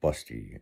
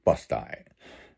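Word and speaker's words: Busti: She called the local town Busty, because it's spelled B-U-S-T-I, and it's Busty. It's literally Busty, you know what I mean?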